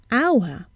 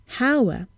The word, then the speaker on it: hour: see an age but we hear a vowel sound at the beginning hour and not hauer so what do we